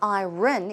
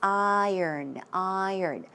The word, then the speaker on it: iron: It's not iron, it's iron.